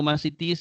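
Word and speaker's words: μαθητής: Luego masitis es ma, si, tis. Tildado también en la última sílaba.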